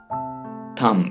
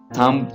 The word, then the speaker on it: thumb: Thumb, अंगूठा, thumb. इसे आप thumb पढ़ेंगे, thumb नहीं पढ़िएगा, thumb, अंगूठा.